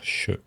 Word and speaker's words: je: souvent le je, et dès que c'est suivi par une consonne sourde, on va avoir tendance à le dire che. Il faut bien garder en tête que voilà, si vous n'entendez pas clairement je, il faut vous habituer à entendre le son che qui veut finalement dire la même chose.